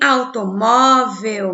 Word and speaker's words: automóvel: Em automóvel, mo é a segunda sílaba mais forte, se chama o quê?